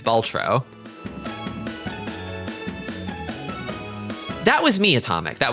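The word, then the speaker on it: Balatro: Please pronounce it correctly, streamer. How? Baltro. Baltro. Oh, thank you. Right. It's I'm I thought there was an A in the middle.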